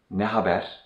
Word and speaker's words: Ne haber: Ne haber? Ne haber? This literally means what are the news? And in general, we pronounce this like ne haber? Ne haber? Instead of ne haber?